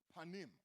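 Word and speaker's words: פָּנִים: presence comes from a Hebrew word that is pronounced panim don't your and say panim what panim actually means is face so what the Lord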